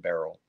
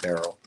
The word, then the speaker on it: beryl: by the way b-e-r-y-l I know my pronunciation Probably sounds like a barrel like you would go over the falls hopefully don't go over